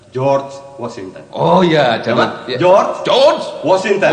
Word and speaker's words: George Washington: Bukan Georgi. Bacanya jangan letar lagi. George Washington.